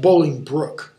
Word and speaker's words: Bolingbroke: Then, Bolingbroke, it's pronounced Bolingbroke, actually, as low as to thy heart through the false passage of thy throat thou liest.